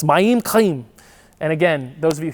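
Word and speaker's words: מים חיים: because you always put in Hebrew, the emphasis is on the second syllable, so it's Mayim, Chaim. What's that? You know, in Hebrew, it's that like you're clearing your throat sound. It's Mayim Chaim.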